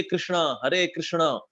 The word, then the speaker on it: कृष्ण: But actually हरे कृष्ण महामंत्र जो है, इसकी एक्चुअल प्रोनाउंसिएशन आई होनी चाहिए, हरे कृष्ण कृष्ण कृष्ण हरे हरे, हरे राम राम Ram Hare Hare. This is right pronunciation. हरे कृष्ण अड़ आखिर में रावण, ये अड़ा है आखिर में अड़ा।